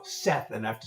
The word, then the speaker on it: Seth: And they go, oh, hi, Jeff. I'm like, no, Seth, and I have to spell it for them.